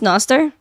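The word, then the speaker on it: Nostr: yeah BTC equals hatch against Central Banking yeah Noster oh that's how it's pronounced Noster got it okay all right I'll look into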